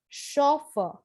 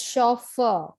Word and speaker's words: chauffeur: loan word this is pronounced as chauffeur so the sound is shaw but the spelling is c-h-a-u so the stress is on the first syllable for the british english it is chauffeur and for the american english the stress is on the second syllable it's chauffeur which means a